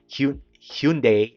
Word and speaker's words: Hyundai: It says that Hyundai and Kia, yeah, that's the pronunciation anyways.